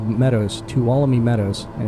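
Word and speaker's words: Tuolumne: a big uh area of Meadows it's called two allomi Meadows talami Meadows and it's got like a silent in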